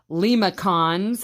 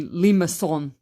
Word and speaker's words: limaçon: And it looks like limacons, and some people will say that, but it's really limaçon. Sounds very French, and that's how it's said, limaçons.